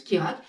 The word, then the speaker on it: Kjerag: Quant au nom de la pompe, qui est tout aussi étrange que le nom de la marque, qui s'orthographie Kejrag mais se prononce Kirag, il fait référence à